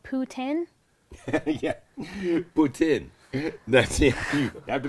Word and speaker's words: poutine: Yeah, poutine. That's it. You have to be careful how you pronounce that, because it can mean something totally different, trust me.